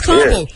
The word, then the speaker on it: Ka'bu: of not being able to pronounce a 4-letter word, carbo. You know, it's carbo, and you can't pronounce